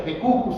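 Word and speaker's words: de cujus: Así como se escucha, decujus se escribe con J, decujus significa autor de la herencia, que en este caso es el testador.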